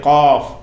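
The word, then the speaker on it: قاف: சாதாரண இது கேஃபும்பாங்க சில ஆளுக்கு விளங்காமல், கேஃபுன்ற ஒரு எழுத்து கிடையாது, கேங்கிறது கிடையாது, இது காஃப், இது காஃப்.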